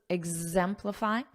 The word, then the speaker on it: exemplify: notice that Z exhibit exemplify Z exemplify and show and remember